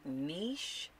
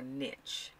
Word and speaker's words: niche: it a different way do you use the word niche or niche niche or niche so they are too common pronunciations and they're both correct so i know some